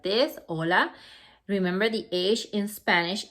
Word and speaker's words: hola: just an expression and it's written like this hola remember the age in spanish is silent so you don't say hola you say hola like the age is not there so anybody